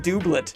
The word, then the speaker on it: doublet: It's pronounced doublet.